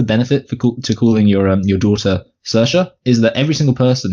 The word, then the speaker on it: Saoirse: Well, it's a very counterintuitively spelt name, but it's actually pronounced Saoirse.